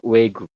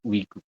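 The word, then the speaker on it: 외국: enaknya ke Wi Ya tapi ternyata di Korea penyebutannya itu bukan Wi tapi W kalau teman-teman enggak percaya boleh ngecek di Naver atau di eh Google Translate ya kalau ada tulisan seperti ini nanti eh audio itu akan mengucapkannya wegu bukan ugu seperti itu Jadi dibacanya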